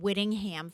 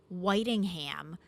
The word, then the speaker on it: Whitingham: and I said that he was born in Whittingham, Vermont. And Kevin Nutting, one of our viewers, said to me, he was coming through the lunch line, and he said, Tina, it's actually pronounced Whitingham, Vermont.